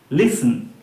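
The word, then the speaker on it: listen: লিসেন কিন্তু নয় লিসেন এইটিটা কিন্তু এখানে সাইলেন্ট হিসেবে কাজ করবে সাইলেন্ট লেটার এইটিটা কোন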